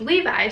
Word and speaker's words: Levi: His mom actually has an accent and she saw Levy, but it actually was Levi. So it said, but she pronounced it Levy.